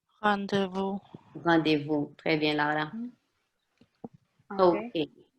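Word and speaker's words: rendez-vous: That's pronounced. Rendezvous.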